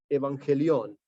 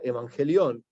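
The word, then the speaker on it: εὐαγγέλιον: Del griego, la palabra Evangelio viene del griego que es Evangelión. O sea, viene de la traducción y pronunciándola Evangelión, que es una palabra clave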